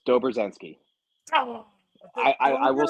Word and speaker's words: Dobrzenski: the last name right how do you say your last name very close Dober zensi I I I will